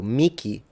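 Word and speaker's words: mihi: The other option is to pronounce it like a K. So Miki Nikil, they are both correct.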